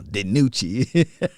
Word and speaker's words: DiNucci: She pronounced his name right now, DiNucci.